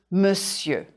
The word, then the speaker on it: monsieur: Consider the spelling of the word monsieur. Now, draw a diagonal line through letters that you don't hear. Monsieur. M, okay. O, okay. N, shall we cross it out? Yes. The S is fine, and the I, E, U, R too. You can draw a line through the R, the R, to remind you not to say it.